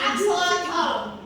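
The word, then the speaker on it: axolotl: Nah, jadi ini bacanya aksatol. Aksotol. Aksatol. Nah, jadi ini ya yang termasuk hewan amfibi.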